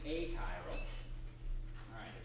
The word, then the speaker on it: achiral: are going to be a chiral the word Cairo with an a in front we pronounce it so an a chiral